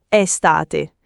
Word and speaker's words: estate: Non estate, ma estate con la e aperta.